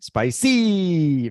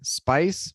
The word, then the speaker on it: spicy: Spice, mas nós temos que spicy. Spicy. Duas Spicy. sílabas. Isso, duas sílabas claras e distintas. Spicy, com a sílaba tônica sendo a primeira.